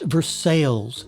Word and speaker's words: Versailles: And Versailles is pronounced Versailles here in Kentucky, which sounds funny to outsiders, but that's the way we talk here.